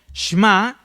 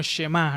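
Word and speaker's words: שמע: Miren, esta palabra oiréis o la que se traduce por oír viene del hebreo shma o muchas veces literalmente lo pronuncian como shemá, ¿no?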